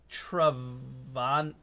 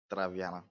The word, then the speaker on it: Traviana: All right, our next caller is Trivana. I'm going to ask how to say it. Traviana? Is that how you say the name? Traviana.